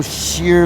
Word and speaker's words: shear: It's called There Ain't No Sheer Luck. And sheer is spelled like cheers. SHEAR, cheers.